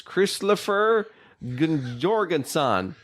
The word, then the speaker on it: Kristoffer Jorgensen: His name is very easily to pronounce. It is Kristoffer Jorgensen.